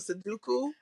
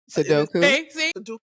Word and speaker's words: sudoku: Let me tell you, I had such a fear of seduku. Oh, I I still have a fear. I don't even know if I'm pronouncing it right. It's sudoku.